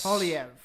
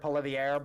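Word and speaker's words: Poilievre: most likely yes well pelier is PV PV yes is that actually how you say it correct Pierre PV yes I've always heard poier but whatever uh but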